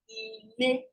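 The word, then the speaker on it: ilé: So the number of vowels you have in a word is the number of syllables and number of tones it has. For example, house is ile, one syllable, le, 2 syllables.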